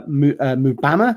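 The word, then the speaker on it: Mbeumo: last season uh uh mubama I believe is how you pronounce that he is also in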